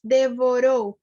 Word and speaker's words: devorou: I think the last word, devorou, you pronounce it as if it were two R's. So instead of devorou, it's devorou.